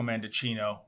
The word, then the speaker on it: Mendicino: a similarity with Marco mandicino rhymes with Pinocchio by the way um